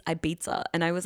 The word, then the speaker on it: Ibiza: and Ibiza. It started with Ibiza because I would be Ibiza. yeah, because I'd be like, oh yeah, I really want to go to Ibiza.